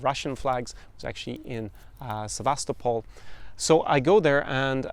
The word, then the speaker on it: Sevastopol: And I was in the city of Sevastopol, we pronounce it in English, but Sevastopol in Russian.